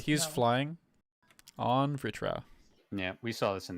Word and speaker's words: Vritra: It's actually easier to say if you pronounce it in Spanish, but there is an I sound there even if the letter isn't there. It's because it's taken from Hindi.